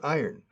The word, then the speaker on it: iron: Y acentúa la I.